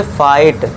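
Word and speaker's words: fight: तो इसमें जो जी एच है ये ऑलवेज साइलेंट रहेगा। तो इसे क्या पढ़ेंगे? फाइट।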